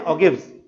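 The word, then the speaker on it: ogive: हम तैयार करते हैं ऑगिव्स। ठीक है, मैंने मेरे प्रीवियस लेक्चर में भी बताया था, इनको कुछ लोग प्रोनाउंस करते समय ऑगिव की जगह ऑजिव करते हैं, एक ही बात है।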